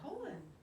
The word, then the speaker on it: Colin: powell no his name's colin his name was colin maybe not a lot of spelled colin but it is colon i think it's pronounced colon you're real colon power